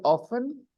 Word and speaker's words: often: There are two pronunciations. Often. One is often and the other is often. Often. Yes. Often has two pronunciations. Often and often.